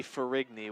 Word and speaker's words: Ferrigny: Gianna Ferrini, I believe, is what we're getting word from. That's out of bounds. That's a throw-in now for Barton, taken by Ferrini. Well, we'll say Ferrigny with the G in that last name. We'll stick with that tonight.